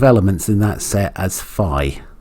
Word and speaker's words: phi: So we're defining the number of elements in that set as phi. Phi rhymes with I.